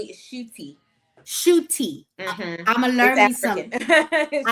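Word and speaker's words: Ncuti: The N is actually silent just you know for my So it's cooti. So, it's it's actually shooty.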